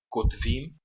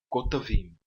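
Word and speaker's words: כּוֹתְבִים: Então, na palavra Kotavim, nós pronunciamos esse Sheva. Em vez de falar Kotvim, nós pronunciamos essa palavra como Kotavim. Tá bom? Ela tem 3 sílabas.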